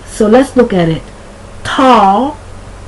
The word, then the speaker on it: tall: Tall, but that's not spelled T-O-L-L. It's spelled T-A-L-L, like all, tall, hall, all, and tool.